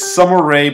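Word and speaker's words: Sommer Ray: never saw before so the first one is sumeray but it's spelled s o m m e r ray so let's check this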